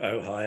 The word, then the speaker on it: Ojai: um and then I saw a picture of oh hi on on the internet on the Chamber of